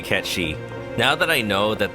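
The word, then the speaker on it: Cait Sith: I see o AKO absolutely akihiko day easy Kate Sith cat shei was your must have character I'm going to say cat shei now that I know that there is an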